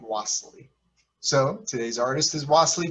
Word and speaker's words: Wassily: some wassily and some wastely i'm going to pronounce his first name wassely so today's artist is wassily kandinsky and he